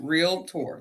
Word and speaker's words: realtor: not a realtor I'm a realtor r-e-a-l -t-o-r really not good at it already a realtor hey okay real tour that's it that's how you say it a realtor realtor